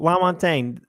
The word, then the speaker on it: Lamontagne: My last name is Lamontagne. is my middle name, but Lamontagne is very long. So that's why we have there. Anyways, I'm blabbing. What is happening? I need food. No. So Lamontagne, Yes, did I say it right?